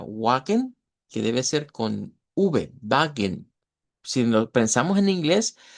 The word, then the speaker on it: Wagen: Cuando hay escrito una W, se pronuncia la V.